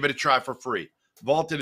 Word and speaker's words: VLTED: Vaulted is spelled V-L-T-E-D, and it's the app to challenge your friends, store your predictions, join daily cash prize pools without any entry fee.